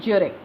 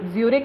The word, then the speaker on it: Zurich: at a university in Zurich. Actually not Zurich नहीं है, यूरिक बोलते हैं, Z इसमें साइलेंट रहता है।